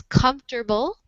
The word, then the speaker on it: comfortable: two words just have three syllables when you pronounce them in in the United States. So this one is comfortable.